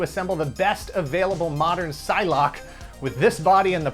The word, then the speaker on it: Psylocke: to retrain myself to pronounce her name's Psylocke not Sai Lok than I did worrying about the body swap incident if you're just not that into Psylocke or apocalypse and this